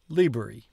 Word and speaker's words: liberi: I have come to the conclusion that the emphasis on most words is on the first syllable, not on the penultimate syllable. For instance, this word is liberi.